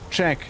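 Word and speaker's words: Czech: You you spell it like check as in like checking something. It's like CZ E uh C H. Check.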